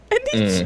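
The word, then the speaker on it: ENYCE: The pronunciation originates from the phonetic spelling of NYC, but sounded out in Italian fashion. Anichi.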